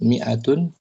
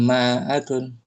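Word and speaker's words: مائة: Kemudian kita akan dapati nanti angka kembali belajar angka angka 100 miatun. Dia ada alifnya tapi enggak dibaca. Ini alifnya Om ditulis tapi tanpa dibaca. Miatun gitu bacanya bukan maatun.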